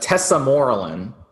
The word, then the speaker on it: tesamorelin: It's tesamorelin. Is that how you pronounce it? Say it one more time. I didn't hear you. Yeah, I'm sorry. It's a tesamorelin.